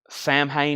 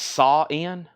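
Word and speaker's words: Samhain: bids and we have Sam Hayne is pronounced sa in do what now we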